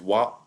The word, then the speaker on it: water: So that third realization of the word water is wa. And instead of pronouncing d or t, all you've done is close the airflow for a brief second, right?